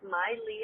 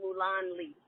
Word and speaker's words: Mai Lee: bit about all right what's up everybody it's Miley I'm so happy you pronounced my name right like do you know